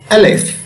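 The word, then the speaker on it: ألف: you to the arabic alphabet and how to pronounce the letter the first arabic letter in the arabic alphabet is alif alif which corresponds to the letter a in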